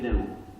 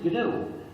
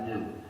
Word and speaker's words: GNU: but it still is gnu and it will always be glue so please avoid the pronunciation error that sounds like new however there's another pronunciation